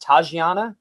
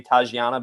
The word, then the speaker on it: Tatjana: i think you say is her name pronounced tajiana because there's a j in in her name i'm gonna go with